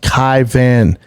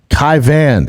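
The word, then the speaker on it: Caoimhín: Also, my name is pronounced Kai Van. Kai Van. It's Irish, motherfucker.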